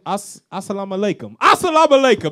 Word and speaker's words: Assalamu alaikum: Assalamu alaikum. That's how you say it.